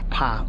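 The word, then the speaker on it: Pak: So the caves are often described as the Pa U caves, spelled P-A-K with a silent K.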